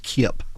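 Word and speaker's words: Kipp: the name of Howard Kip yes k i p p and like I said the second p is silent and the couple they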